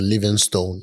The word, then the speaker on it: Livingstone: well hear it uh hear people say Livingston I definitely thought that yeah it's the same you can pronounce it that way but I spell mine with the e at the end because that's what it